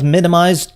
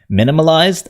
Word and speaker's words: Minimized: And yes, I'm actually pronouncing the word right this time instead of saying minimalized. I kept saying minimalized throughout the first video.